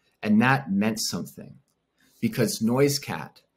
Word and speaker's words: Noisecat: And that meant something, because Noisecat, or Noisecat, as the name was originally pronounced before the missionaries messed it up, it nearly died out.